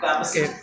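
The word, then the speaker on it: capacity: कैपेसिटी यानी पी के बाद हल्की सी साउंड आपकी ए की आना चाहिए, because the A alphabet already included in that spelling कैपेसिटी, ठीक है। तो आपको पी के बाद थोड़ा सा साउंड स्टूडेंट ए करेगा, बी केयरफुल साउंड।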